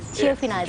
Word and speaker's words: Giovinazzi: Did I pronounce it right? Yeah. Giovinazzi.